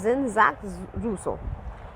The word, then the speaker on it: Jean-Jacques Rousseau: So J is pronounced as Z in the YouTube channel which I have searched and looked for the pronunciation. So it is what? Jean-Jacques Rousseau.